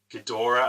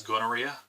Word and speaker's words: Ghidorah: It was like, he pronounced like Ghidorah as gonorrhea.